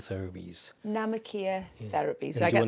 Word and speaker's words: Namikier: It's called Namikier Therapies. Namikier Therapies.